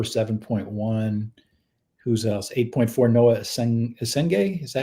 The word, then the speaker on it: Essengue: 8.4, Noa Essengue. Is that how you say it? Essengue, yeah.